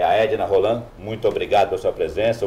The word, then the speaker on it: Roland: É um francês, mas não se pronuncia o D, é só Roland.